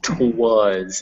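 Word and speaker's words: 'twas: Sorry, that word is twas. It's it was.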